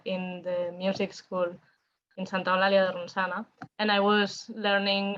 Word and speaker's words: Santa Eulalia de Ronçana: born and raised, the three of us, in Santa Eulalia de Ronçana, which is a really small town near Barcelona. It's a very Catalan pronunciation and a very Catalan name, Santa Eulalia de Ronçana.